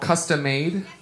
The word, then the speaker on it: Kustom Made: This is a song called Custom Made, but it's spelled custom with a K.